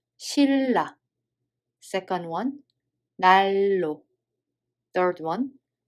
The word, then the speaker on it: 신라: So first one, we don't read it as 신라, but we read it as 실라.